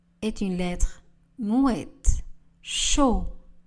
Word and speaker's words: chaud: Chaud. Le D ne sera pas prononcé. Elle boit du chocolat chaud.